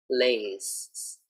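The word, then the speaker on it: Lay's: So very important to get the L sound clearly and to also have the S on the end. Lays, lays, okay?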